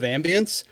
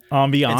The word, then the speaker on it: ambience: never heard anybody who took the two different pronunciations of ambience and cut the first half of one ambiance and stuck on the second half of the other word cuz it's either ambience or ambiance and you ambiance which